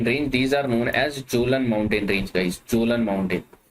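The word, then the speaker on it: Kjølen: These are known as Jolan mountain range guys. Jolan mountain. Basically K भी इनके आगे लगा होता है. K is silent.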